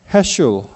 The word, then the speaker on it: 헤슐: 여러분, 에이브라함, 자슈아, 헤슐 이 라스트 네임이 좀 발음이 어려운데 헤슐이라고 발음하더라고요.